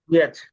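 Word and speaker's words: which: আয়ের উচ্চারণ এখানে রস্যইর মতো হবে, উইচ। উইচ হবে তাই না? হ্যাঁ হ্যাঁ, উইচ। হুইচ না, হ হবে না, উইচ, উইচ। হর একটা তো হর উচ্চারণ হবে না এখানে, উইচ।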